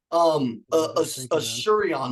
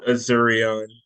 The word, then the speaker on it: Azurion: Shurion, like the phone service, Shurion, like the broken phone. See, some of y'all break your phones like me. It's pronounced Azurion. Azurion, what's up, buddy?